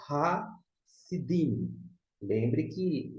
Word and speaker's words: Sidim: Embora que a pronúncia é sidim e não sedim, só questão de vocalização, portanto, das vogais.